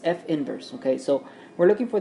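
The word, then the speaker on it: f⁻¹: okay so remember this you do not pronounce f to the negative one power that's incorrect it's f inverse okay so we're looking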